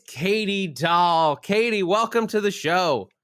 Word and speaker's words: Dolle: me and thank you for saying my last name correctly that's so exciting do do people mispronounce doll all the time you would be surprised uh doyle uh dolly uh what the listeners